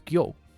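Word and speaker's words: 魚: One of several ways to pronounce this kanji is gyo.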